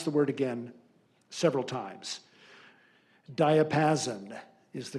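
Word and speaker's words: diapason: Alternate pronunciation. Diapassen.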